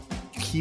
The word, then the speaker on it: Kyiv: And it's Kyiv.